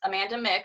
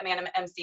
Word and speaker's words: Amanda Mc: Yeah, so my channel is Amanda Mick. I know a lot of people say Amanda MC because it's spelled like that, but my last name's, so I say Mick.